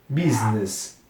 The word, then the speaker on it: business: um detalhe pra pronúncia apesar de ter esse B b u não tem som de u aqui é som de i mesmo bem i é bi Business Business Pedro the Business